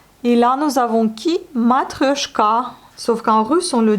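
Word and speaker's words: матрёшка: Matryoshka. Sauf qu'en russe, on le dit matryoshka.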